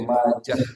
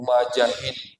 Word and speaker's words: Majah: Cara bacanya begitu ya, Majah disukun. Jadi disukun haknya Majah. Salah kalau ada orang, ini kalau tidak ngerti baru belajar i'rab atau lahu, akhrajahu Ibnu Majahin. Salah. Bukan Ibnu Majahin.